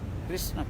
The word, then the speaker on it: Krishna: Otherwise you chant Hare Krishna kiss. Kiss, no, not kiss. Huh? Krishna.